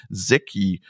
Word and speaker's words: Zeki: And my guest is Thomas Hurd, the CEO and founder of Zeki. Is it right pronounced, Thomas?